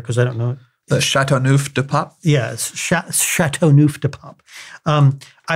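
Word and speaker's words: Châteauneuf-du-Pape: And my wife has bought me a bottle of this, how do you pronounce it again? Châteauneuf de Pape.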